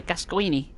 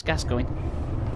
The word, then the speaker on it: Gascoigne: friend mr gasket going which no american youtuber can pronounce his name they say gasquini no he's gas going look at that okay